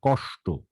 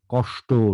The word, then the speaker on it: কষ্ট: তাহলে এই উচ্চারণগুলো আমাদের মনে রাখতে হবে, সব ক্ষেত্রেই এসএইচ হবে। কষ্ট, নষ্ট, সৃষ্টি, বৃষ্টি, কৃষ্টি, দৃষ্টি, অনুষ্ঠান, কোথাও এস হবে না।